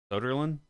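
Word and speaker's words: Söderlund: Soderlund?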